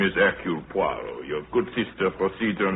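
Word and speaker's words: Hercule Poirot: If I may be permitted the once correction, my name is Eul Puarro.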